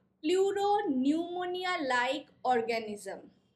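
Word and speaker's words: pneumonia: পিপি এল ও প্লুরো নিউমোনিয়া like organism নিউমোনিয়ার পিটা silent থাকে পি এন ইও এম ও এন আই এ ঠিক আছে বানানটা প্লুরো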